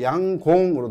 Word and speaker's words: 양곤: 얘 같은 경우에는 양곤이니까 니은으로 끝나거나 네, 실제로는 그 현지 발음을 들어보게 되면 양곤이 아니고 양공으로 들립니다. 실제로는 들어보면 양공으로 들려요.